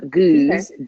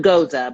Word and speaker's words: Gueuze: Gueuze, not Goza, but Gueuze, which is different.